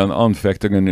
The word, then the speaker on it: Anfechtungen: German word, and I'm not sure how to pronounce it. Anfechtungen? Yeah, Anfechtungen is, or Anfechtung is just, it's something like a temptation, but more than a temptation, more than a struggle.